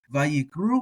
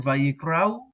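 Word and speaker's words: וַיִּקְרְאוּ: I think a lot of people would do Vayikru or Vayikrau.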